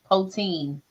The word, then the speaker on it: poutine: Can you make Irish poutine at home? Am I pronouncing that correctly?